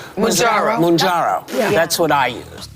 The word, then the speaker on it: Mounjaro: And one of the things that's helped me drop the weight is not Majolica. Mounjaro.